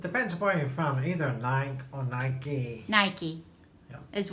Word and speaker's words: Nike: If you've heard it pronounced both ways, then maybe, but on the commercials and everything, it's Nike.